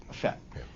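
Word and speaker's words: Fête: But it's pronounced FET. FET.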